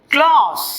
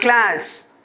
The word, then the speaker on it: clause: And number 2 is clause. C-L-A-U-S-E. How we pronounce the word? Clause. Not class.